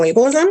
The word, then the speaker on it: ableism: use this word which why can I not pronounce it say it again for me medical ableism no no why can't I say a b